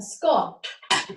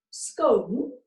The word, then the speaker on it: scone: But if you say scone, you're from the south of England and the Midlands.